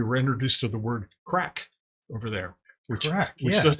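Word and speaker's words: craic: correct maybe what's correct it's spelled c-r-a-i-c yeah you pronounced a crack having a good time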